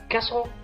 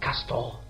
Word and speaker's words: castle: it Castle of Castle castle of castle hmm so what is the silent letter the silent letter is T excellent so the right pronunciation of this word is Castle not cast all there okay welcome back